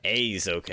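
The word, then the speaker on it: Aizouken: Aizoken. EI is pronounced A.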